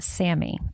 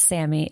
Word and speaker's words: SAMe: So, it looks like the word same, but it's capital S A N M, lower case E, pronounced Sammy.